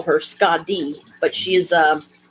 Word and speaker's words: Skadi: To me, Skadi sounds better than Skady. Skady sounds like some horrible skin disease or something. It sounds insulting. So I will call her Skadi, but she is like a winter goddess.